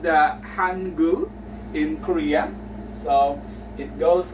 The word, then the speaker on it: Hangul: an idea the Korean alphabet is called the Hangul in Korea so it goes like this this